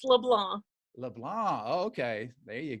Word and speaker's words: LeBlanc: is silent. It's LeBlanc.